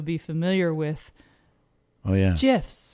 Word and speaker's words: GIF: oh yeah gifs gifs which i always called gifs but they're not but they're pronounced gifs gifs and who says that well the inventor he actually invented them for compuserve and he did it that way because he wanted he